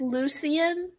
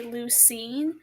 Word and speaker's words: Lucian: Well, it's pronounced Lucian, but Yeah. some people say Lucine, and Yeah. that's why I did the Lucine obscene because a lot of people mispronounce it, but it's actually Lucien obscene.